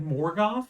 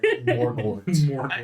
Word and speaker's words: Morgort: It's a whole mouth word. It's Morgort.